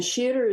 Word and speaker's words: Sheatre: And Sheator is spelled like theater, only with an S at the beginning, SHEATRE.